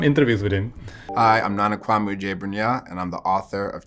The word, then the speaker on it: Nana Kwame: I watched some interviews with him hi I'm Nana Kwame and I'm the author of Chain Gang All-Stars